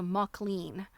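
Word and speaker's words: Mauchline: first thing and Jill I found out how it's pronounced so um the the wooden stuff that has like the printing on it needle work tools it's called a mlan and it's spelled ma Au CH l i n I think McLean is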